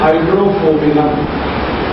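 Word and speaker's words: Hydrophobinum: दवा का नाम है हाइड्रोफोबिनम। मैं स्पेलिंग बोलता हूँ HYDRO, HYDRO, फिर उसके बाद PHO, P for parrot, parents, PHO, BI, ये भी वाला BINUM, हाइड्रोफोबिनम, ये दवा है।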